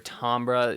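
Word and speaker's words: timbre: um also completely agree really good timber on the lead there um or tombra you know if you want to say it correctly here technically speaking and what's up dylan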